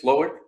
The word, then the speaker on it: Slowik: Is that how you say it, Slowik?